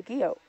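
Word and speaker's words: guyot: weathering and erosion and then they become a Geo so the way that you spell it is for those who wants to to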